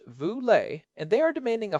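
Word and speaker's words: Vu Le: There is a movement called nonprofit AF led by Vule pronounced Vule and they are demanding a 5:1 ratio between the highest and lowest paid employees in any organization.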